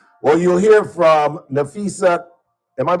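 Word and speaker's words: Napheesa Collier: Well, you'll hear from Nafisa. Am I pronouncing that right?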